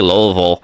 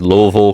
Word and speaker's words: Louisville: and corrected me and be like, it's actually Louisville. And I'm like, oh dude, this place. But after that correction, now know how to pronounce it, is Louisville, Kentucky.